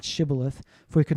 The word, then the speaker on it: Shibboleth: Say now Shibboleth. But he said Sibboleth, for he could not pronounce it correctly.